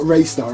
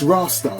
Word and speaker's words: Rastar: Sounds like I'm saying Rastar, like a Rastafarian. Rastar. Rastar is the brand, okay? I think it's it's not Raystar, is it? It's Rastar. I'm sure that's how you say it.